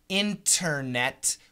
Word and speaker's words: internet: blending cancellation would be when the tea is cancelled for example internet we say internet we cancel the tea